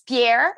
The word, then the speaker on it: Pierre: It's Pierre. It's like Peter in yeah, French.